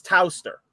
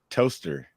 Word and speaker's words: Towcester: I'm gonna assume that this is Towcester. Toaster. No, it's Towcester. Towcester. Because then I was gonna say it's gonna end up being like Cirencester, where it doesn't follow the pronunciation rules.